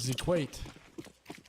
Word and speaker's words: Zequate: Full name is Zequate. Learned that in my research. Rhymes with equate.